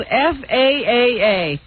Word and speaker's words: Faaa: um Cheyenne Brando and the place is spelled faaa yes you don't know where fa is that's the proper pronunciation you know you read